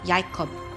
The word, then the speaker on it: Jacob: at the the name Jacob Jacob is actually pronounced yakub and it means supplanter supplanter means heel catcher